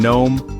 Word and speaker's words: gnome: The K in night, the G in gnome, the H in honor.